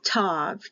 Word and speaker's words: Tav: for the letter T when there's a dotted there it is a hard sound for T without the dot it's a t h with the dot